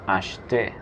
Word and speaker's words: acheter: La E del medio no se pronuncia, sería acheter.